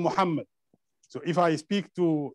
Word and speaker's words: Muhammad: So I wouldn't say Mahomet, just to go with the way they pronounce it. I would say Muhammad, even if I speak in English.